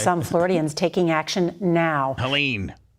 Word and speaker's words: Helene: Helene, that's how you say it.